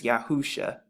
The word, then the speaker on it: Yahusha: and the ancient again, the five different characters that's written and they all make the exact same sounds, Yausha, and when you put it together, it's Yahusha.